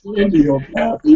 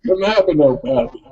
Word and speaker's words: cannabinopathy: It's not candiopathy, it's cannabinopathy.